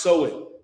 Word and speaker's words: Samhain: Now, Halloween's origins date back to the ancient Celtic festival of Samhain, pronounced Samhain.